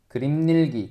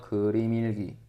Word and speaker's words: 그림일기: 그림닐기 그림닐기 이렇게 발음 안 하고요. 그림일기 그냥 연음시키죠.